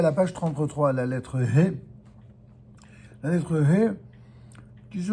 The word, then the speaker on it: He: Le H qui se prononce He, c'est une réalité même dans la langue anglaise et ça correspond exactement au He hébreu.